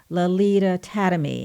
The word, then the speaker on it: Lalita Tademy: have on the telephone with me this evening Lolita tatamy am i pronouncing your name correctly I can't believe it